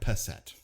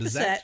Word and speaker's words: Bissett: But Bizette, not Passette. I think I've said Passette. No, you said Bissette. You said it right.